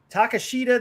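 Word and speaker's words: Takeshita: the joker hangman versus takashita that's how you say his name excalibur said it differently but it's takasha i think that's how he says his name takes them and then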